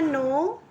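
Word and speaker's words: know: की इंग्लिश होती है नो नो इसमें के साइलेंट है स्पेलिंग है के एन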